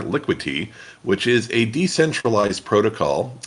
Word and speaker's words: Liquity: this right uh it's liquid te uh no D in there liquid te which is a decentralized